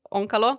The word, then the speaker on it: Onkalo: So you have Onkalo, is that pronounced correctly? Onkalo?